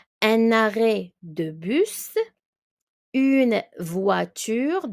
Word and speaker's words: voiture: Une voiture. The OI is the wa.